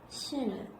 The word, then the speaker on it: 신라: 그럼 우리 역행적인 유음화 한번 보면은 신라 이거 한번 볼까? 이거 어떻게 발음돼요? 실라 이렇게 되지. 그러면 뒤에 있는 이 리을이 앞에 있는 니은에 영향을 줘가지고 이 니은이 어떻게 됐어요? 리을로 됐어요.